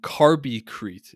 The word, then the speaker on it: Carbicrete: is what is carby carby crete is that correct pronounced that's correct yeah so it's it's